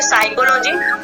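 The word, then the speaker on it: psychology: है, साइलेंट होता है, और एस से पहले आपका पी आया है तो इसको हम क्या बोलेंगे, साइकोलॉजी।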